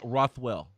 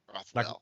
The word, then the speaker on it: Rothwell: Ben Rothwell. Rothwell. Yeah. Rothwell. Rothwell. Yeah. Yeah. Rothwell. Rothwell. Like Rockwell, but Rothwell.